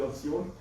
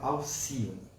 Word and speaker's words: Alcione: Mas assim, com certeza a minha tia queria colocar o nome de Alcione, mas todo mundo começou a chamar de Alcione, acabou ficando Alcione, mas a pronúncia correta é Alcione.